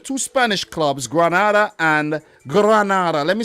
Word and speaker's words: Granada: check out the two spanish clubs granada and granada let me say it properly granada and vria real via viraria via vi biarrial